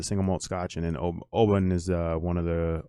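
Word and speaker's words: Oban: and it's uh o bin o b a n is how it's spelled but it's pronounced o bin as in like o h space b i n and then uh it's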